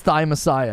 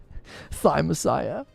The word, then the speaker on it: Thymesia: game harder then whoa it is hard just pronounce it thymesia thy messiah yeah it's thy messiah yeah yeah thigh messiah i'm embarrassed to say that it took me